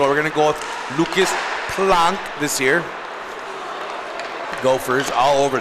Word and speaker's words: Planck: His dad informed me I was saying it wrong, so we're going to go with Lucas Planck this year.